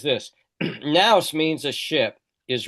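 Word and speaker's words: ναῦς: The very formula nouse and there's the there's the Greek for now the the V is actually a new that's an N in Greek that's pronounced Nouse.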